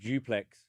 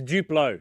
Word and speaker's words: Duplo: You got a little kid, so you start with Duplex. The bigger blocks? Yeah. Isn't Duplex your Aussie friend? Yeah, maybe I'm saying it wrong now. It's Duplo.